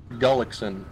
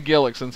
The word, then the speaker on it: Gullickson: it all night long gullickson Gullickson I've been sayin Gillick since of work we're close sorta Gullickson though craig gullickson well sir